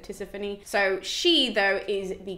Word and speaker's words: Tisiphone: You can also say Tisiphone, I've heard that before, but my teachers always said Tisiphone.